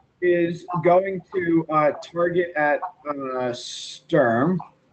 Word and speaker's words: Sturm Jaq: going to target at sturm strum I don't know I keep just differently pronouncing your name Thanks it's like storm jack yeah and he's gonna